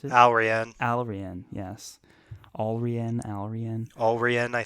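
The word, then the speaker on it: Allrianne: That's how you pronounce it. Alrian.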